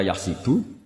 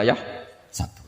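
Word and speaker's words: يحسب: Karena dalam qiraah sab'ah ada yang baca yahsibu, qiraah kita baca yahsabu. Tapi guru-guru kita kalau ngajar fikih itu bacanya yahsibu. Tapi kalau baca Quran yahsabu. Ya kan Quran kita kan ayahsabu Allah yaqdiru alaihi ahad, bukan dibaca ayahsibu.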